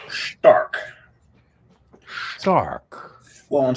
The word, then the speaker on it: Stark: Stark. Well, I'm saying it Stark because I'm saying it the German way to pronounce it.